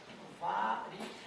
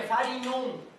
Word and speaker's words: Varignon: Teorema de Varigon. Eu acho que a pronúncia correta é Varignon. Eu não sei se a origem é italiana, né? Se for italiano, deve ser, né? Varignon.